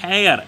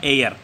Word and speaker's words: heir: रहा था ए आएगा, लेकिन हेयर HEIR, इसमें H म्यूट है, साइलेंट है, तो इसका क्या, इसका उच्चारण होगा एयर, तो आप क्या करेंगे, एन एयर।